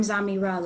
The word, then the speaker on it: Zamira: And Unc, I hope you're in here because he pronounces it wrong technically. Uh, but I don't really say anything because I kind of like saying Zamira because it reminds me of a mirror, but technically it's ZamiRa, right?